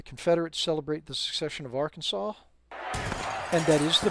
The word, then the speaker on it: Arkansas: So, the Confederates celebrate the succession of Arkansas. And that is the pronounce correct that is the correct spelling with the correct pronunciation. It Arkansas named after the Arkansas uh tribes.